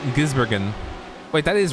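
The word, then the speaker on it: Gisbergen: shane van gibser gibbsburg i keep saying that name wrong i i was saying gizbergen wait that is right gizbergen naming naming people is not my strong suit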